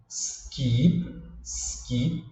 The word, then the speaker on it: skip: Em vez de pronunciar esse som aí de S, o brasileiro tem a tendência de colocar um I aqui no começo.